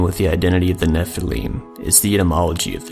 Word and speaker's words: nephilim: a scribal gloss indicating the base word of nephilim was originally pronounced with a long e this means of the